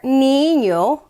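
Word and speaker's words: niño: the any in there because this this one actually has both the regular end and the aenya end it makes that new sound that doesn't exist in english and here we put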